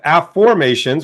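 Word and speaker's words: Aformations: well my book of a formations which you can see right here is that's my book from Hay House it's called a formations not affirmations so an AFF formation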